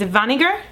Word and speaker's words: weniger: If you want less of something, it's vinegar. Sounds kind of like vinegar.